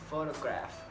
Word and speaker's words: photograph: the letter H on pH together can often mean the F sound like in the example photograph and telephone there's the letter R